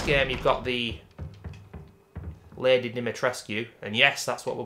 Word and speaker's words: Dimitrescu: Obviously, in this game, you've got the Lady Dimitrescu, and yes, that's what we'll be naming her as, because that's how you pronounce it, ladies and gentlemen. The U is not silent.